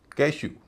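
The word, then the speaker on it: cashew: कैश्यू, काजू, इसमें भी EW से पहले श की ध्वनि है, एस से श की ध्वनि होती है, तो जोशीले चार की दूसरी ध्वनि श, यहाँ पे उसका उच्चारण होगा ऊ, कैशू।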